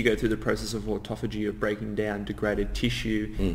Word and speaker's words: autophagy: I don't know a lot about that, except to say I would pronounce it autophagy. Auto meaning self, and phagy meaning to eat yourself.